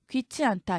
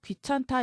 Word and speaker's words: 귀찮다: 귀치 않다. 이게 귀하다는 뜻인데 귀하지 않다죠. 자, 하지만 이렇게 풀어 쓰는 사람 없죠? 귀찮다 이렇게 쓰죠.